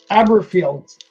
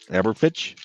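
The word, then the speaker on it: Aberfeldy: It's Aberfieldy. Aberfitch? Aberfieldy.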